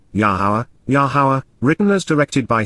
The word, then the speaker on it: Yahowah: even when we are not worthy then W yahwah yahwah the proper pronunciation of yahwah our eloa God has directed